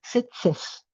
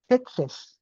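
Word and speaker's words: Tzetzes: Setses. Setes. Sí. Se escribe T Z E T Z E S y es del siglo XI.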